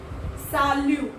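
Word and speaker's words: salut: जैसे मैं आपको बता दूं, साल्यू, इसे हम इंग्लिश में सल्यूट पढ़ेंगे, बट फ्रेंच में हम इसे साल्यू पढ़ेंगे।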